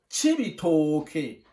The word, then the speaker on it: Cibitoke: On prononce Cibitoke.